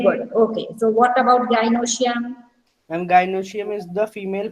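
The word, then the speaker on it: gynoecium: of pollen grains, and gynosium. Now, see, wait. Gynosium. You learn the pronunciation. It is androecium, gynosium.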